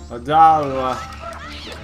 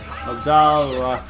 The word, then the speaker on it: Odolwa: Odolwa. Odolwa. Odolwa. Just in case you don't know how to pronounce his name.